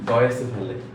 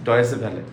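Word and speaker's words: Deutsche Welle: এটা ডয়েসে ভ্যালে, যে আপনাদের টিভি চ্যানেল যেখানে আগে খালিদ মহিউদ্দিন ছিল, বলতো ডিডাব্লিউ মানে ডয়েসে ভ্যালে। এখানে ডাব্লিউর উচ্চারণটা ভি।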